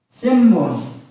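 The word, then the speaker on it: 新聞: means worry of fear if followed by B sound sin plus Bo followed by B sound it is pronounced as Simon Simon means newspaper and then we follow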